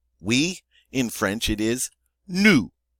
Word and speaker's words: nous: In French, it is nous. Nous. And that is that nice oo sound. Nous. Notice the S is silent on the end, as most final consonants are in French.